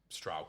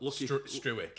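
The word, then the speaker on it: Struijk: But I think maybe ability-wise, Stroud could be ahead of. Does my head in about. At least you lads pronounce his name right as well. Struick is what we get all the time.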